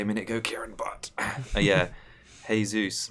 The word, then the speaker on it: Jesus: minute go Karen yeah hey Zeus rather than Jesus yeah yeah I just